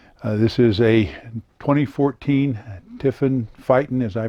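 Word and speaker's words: Phaeton: unusual about it this is a 2014 tiffin fighting as i pronounce it they call it faten and it is a 34 000 pound vehicle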